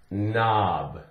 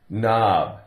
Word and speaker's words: knob: here we're talking about in words that begin KN the K is silent the K is silent all you hear is n for example we have the word knob knob take off the K